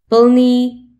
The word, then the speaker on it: plný: R et L peuvent jouer le rôle de voyelles. Ça donne des mots merveilleux tels que plný, plein, prvý, premier, prší, il pleut, zmrzlina, glace, vlk, loup,